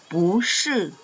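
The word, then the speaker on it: 不是: Nah, ini juga shi nada keempat. Berarti kalau diletakkan di depannya dia akan berubah cara baca menjadi nada kedua. Bu shi. Bu shi.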